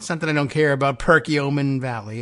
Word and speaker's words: Perkiomen: decided that's not it it's not Perkiomen it's Perkiomen okay well there you are